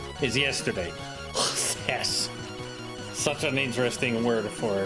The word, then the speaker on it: χθες: Just one syllable in a song that is 3 syllables. It's not yesterday, it's chthess.